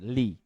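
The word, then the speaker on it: لِ: Ila Sekarang tambah satu lagi li li hanya Li ini ketika bersambung dengan kata ganti dia dibaca la bacanya la ya kecuali kata gantinya adalah ya tetap dibaca Li nanti saya akan Terangkan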